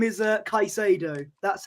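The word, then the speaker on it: Caicedo: I've been saying I've been saying it as casiado for some reason like he's Italian but his name is uh kaisado that's how uh that's how it's pronounced so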